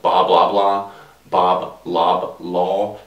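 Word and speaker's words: Bob Loblaw: I mean, you got characters like Bob Blah Blah, Bob Lob Law is how it's said, but every time you say it, it comes out like blah blah blah.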